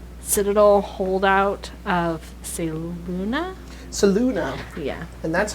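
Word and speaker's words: Selûne: the druids, and they're like citadel holdout of Seluna. Yeah. And that's how I pronounce it. Get the fuck over it. That's great, because I was gonna say Saloon anyway, so.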